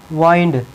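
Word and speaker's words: wind: विंड है, विंड है, यदि विंड है ना, यदि नाउन है तो इसको क्या बोलेंगे, विंड बोलेंगे। क्या, इसको बोलेंगे विंड, विंड, विंड बोलेंगे। और यदि यह वर्ब है ना तो इसकी प्रोनाउंसिएशन क्या होगी, वाइंड, इसकी प्रोनाउंसिएशन क्या होगी, वाइंड आएगी।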